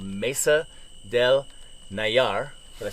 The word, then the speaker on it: Nayar: We are right outside the town called Mesa del Nayar.